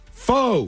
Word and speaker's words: Pho: Pho. Pho. Pho. Pho. Pho. Pronounced as the Vietnamese themselves do it.